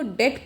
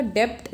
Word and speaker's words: debt: DEBT को डेट pronounce किया जाएगा, डेप्ट नहीं होगा, डेट।